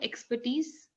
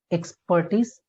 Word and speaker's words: expertise: Okay, not expertise. Okay, expert. R, it means Not, R is silent. yeah, you can say it like that. But you will not say expertise. No. Okay, You don't have to stress that syllable. You have to stress yeah. the last syllable. Expertise. Okay, Okay. expertise. Yeah. Yeah, So, however you say expert and then eats expertise.